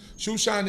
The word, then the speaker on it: Shushan: history takes place in shushan or Susa shushan is the way that we pronounce it as Hebrews Susa is the way